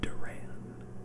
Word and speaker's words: Duran: a side character let's go ahead and pick Darren I'm so sorry that Duran and then for companion to I did get